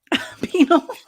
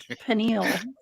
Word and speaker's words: pineal: opened your penal gland penalty i think it's pronounced something pineal p-n-i-a-f nile i always said pinot glam penal somebody it sounds like pine needle okay like people drink